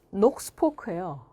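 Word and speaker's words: Knox Polk: 제임스 녹스포크예요. K를 안 읽어. 발음을 안 해.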